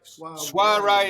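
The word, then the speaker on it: soirée: Suare is how you say it.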